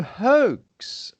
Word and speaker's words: hoax: Oh, hoax. Right. Not hooks, but hoax.